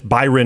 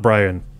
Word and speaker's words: Byran: And it's Byran, not Brian.